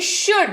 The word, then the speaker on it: should: शुड अगला शब्द है। SHOULD। यहां पर भी देखिएगा जब उच्चारण होगा तब L जो है वो साइलेंट हो जाएगा। SHOULD, इसको शुड पढ़ते हैं।